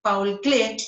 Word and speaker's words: Paul Klee: Bueno, y aquí vemos a Paul Klee, así se pronuncia.